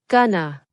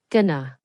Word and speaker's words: gonna: The answer is gonna and it is usually pronounced with two schwas gonna.